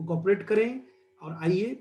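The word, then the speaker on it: Carew: थोड़ा मेरे को कोऑपरेट करें। और आइए, टॉमस कैरी, इनका प्रोनाउंसिएशन कैरी है, ये कैवलियर पोइट हैं।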